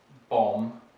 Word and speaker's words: bomb: might be for example bomb right so the b is written but it's not pronounced other common ones might